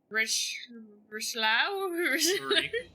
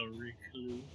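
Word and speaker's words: Richelieu: Lady Richlau? Ricklou offers a barrage of names to clarify. Think of like that, like in lieu of is spelled that way. And there's no H in French, so Ricklou.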